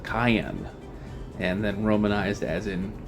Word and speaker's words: Cyan: his name is not Sayan in the Japanese his name is pronounced cayenne and then romanized as in Cayenne like the pepper so don't worry I